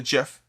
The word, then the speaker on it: GIF: Apparently, the creator of the GIF said it's pronounced GIF.